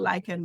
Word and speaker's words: lichen: I pronounce it Oh, lichen, but it's lichen.